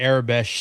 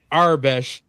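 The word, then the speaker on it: Aurebesh: my tongue works, but I just say Arabesh sometimes. And that's the battle. Every time I use two syllables, the 3-syllable community attacks.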